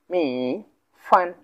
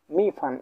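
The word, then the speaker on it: 米饭: আমরা করব কেমন করে, ছোট ছোট করে আমরা নিয়ে একসাথে উচ্চারণ করব।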